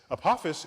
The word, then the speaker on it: Apophis: Apophis I get to say it like this Apophis is named for the Egyptian god of death